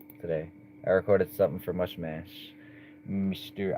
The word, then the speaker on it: Mushmash: I recorded something for Mushmash. Mr. I think that's how you say it. Mush mash. I used to say mushmuck. Then I heard him rap his own name and he said mash or match.